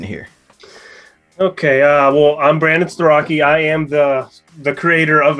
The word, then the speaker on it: Starocci: Give it up, everybody, for Brandon Starocci. Hello, everybody. And I said it wrong anyway. Starocci. Yes. There you go. Starocci.